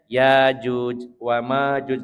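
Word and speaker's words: يأجوج ومأجوج: Hamzah Fah alhamzatus Sakinah kalau riwayat asim ini pakai Hamzah yang disukunkan jadi bacanya yjuj wa Makjuj sementara jumhur ahli qirah bacanya Yajuj wajuj dipanjangkan kita pakai yang hamzah disukunkan Jadi Yakjuj Makjuj dan semua yang disebutkan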